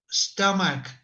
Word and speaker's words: stomach: It is with K stomach.